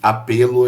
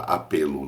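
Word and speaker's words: Appelo: chamado your Gena apelo é jurgen que se escreve Julian com dois Ls é j u r g e n e apelo é exatamente como fala apelo mesmo com dois l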